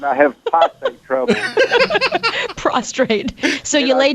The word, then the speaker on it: prostate: oh okay yeah well my dad he has prostrate trouble he's always said I have prostate trouble prostrate so you lay down too much